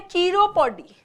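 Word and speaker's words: chiropody: Next है, इसका pronunciation है कीरोपोडी।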